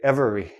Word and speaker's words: every: e i don't say every I don't say this letter e every every everyone everything